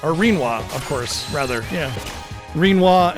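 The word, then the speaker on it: Rinoa: Of course, it's quinoa, or Reenwa, of course, rather, yeah. Reenwa and Skull. How else do you pronounce it?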